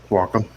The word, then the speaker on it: Wacom: um i'm using a wacom wacom uh-huh how do you pronounce it welcome welcome okay uh like a